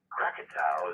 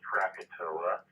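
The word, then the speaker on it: Krakatoa: we mark 104 since the catastrophic eruption of Crakatoa. Cracktow is the way it's pronounced. We generations of English speakers call it Crackatoa.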